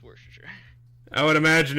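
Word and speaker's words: Worcester: and and all that I don't know why it's pronounced warer I just know it is pronounced warer I would imagine it's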